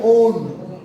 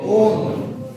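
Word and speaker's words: -one: IUPAC term ओन। क्या pronunciation use करोगे? ओन।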